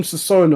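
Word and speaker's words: sazón: We had to add some sazon on it. Now he put on some sauce. Is that how you say it? Is this sazon? Yeah, there we go.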